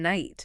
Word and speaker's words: night: Yeah, like the K in night. The K in night. Yeah, that's a relic of the Great Vowel Shift.